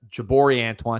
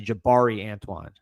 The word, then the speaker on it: Jabari Antoine: I said, uh, Jabori Antoine, it's actually Jabari Antoine.